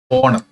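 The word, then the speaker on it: honour: ഉച്ചാരണം നോക്ക് ഇവിടെ നമ്മൾ ഹോണർ എന്നല്ല വായിക്കുന്നത് എച്ച് അവിടെ സൈലന്റ് ആണ് പകരം ഓ എന്നാണ് പറയുന്നത് ഹോണർ അപ്പൊ ഓ എന്ന് പറയുമ്പോൾ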